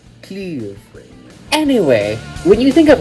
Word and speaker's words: Kyiv: It is to be said as Kyiv? Kyiv.